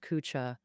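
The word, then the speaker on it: 龜茲: Cooa where Buddhism flourished. The pronunciation of Kunzes is a bit special.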